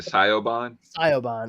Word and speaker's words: Siobhan: when they see it they spell it Scio Bond s-i-o-b-h-a-n I actually got into